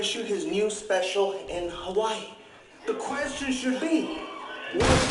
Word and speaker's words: Hawaii: you never know first things first the proper pronunciation is hawaii just so the world gets to hear it